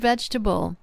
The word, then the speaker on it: vegetable: Or take the word vegetable. That's how we pronounce it in American English. We don't pronounce every sound. We don't say vegetable. It's vegetable. And ESL speakers sometimes struggle